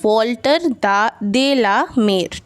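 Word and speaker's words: Walter de la Mare: इसका हम लोग प्रोनाउंसिएशन करेंगे वॉल्टर दे ला मेर।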